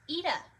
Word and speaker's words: ETA: ETA is pronounced with a long E at the front. ETA.